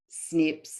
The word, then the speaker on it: SNP: what is a genetic snip and snip is usually um it's spelled with a capital s capital n and a capital p so what does that